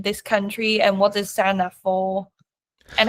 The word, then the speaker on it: Senedd: I feel like even now, like I'm leading on Senedd election legislation campaign.